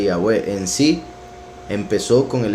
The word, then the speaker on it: Yahweh: Nos damos cuenta que los escribas se metieron y pusieron puntos de vocal en las escrituras, en puntos de vocal para darle una pronunciación diferente al nombre Yahweh.